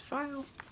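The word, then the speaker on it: faille: home Dec type fabric so file which it doesn't when you look at the word doesn't look like that right there pronounced file let's see here and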